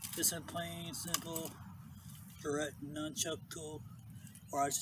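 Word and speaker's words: nunchaku: Pronunciation is Nunchucku because that's how the Japanese call it. Even the Koreans, they call it a Nunchucku.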